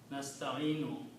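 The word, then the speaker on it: نستعينُ: So these will become in Arabic, whenever you see a waw with a kasra, it changes to the sound of ya, because waw doesn't go with kasra. So that's the reason waw becomes ya, and that's the word here, nasta'inu.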